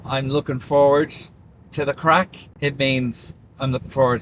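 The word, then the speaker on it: craic: It's about the crack, lads.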